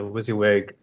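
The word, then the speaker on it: WYSIWYG: the xaml designer yeah the wizzy wig can you all hear me is that how you say it yeah you're coming yeah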